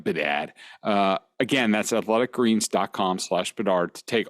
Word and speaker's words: Bedard: That's Bedard, not Bedahd, like some of you guys pronounce Bedard.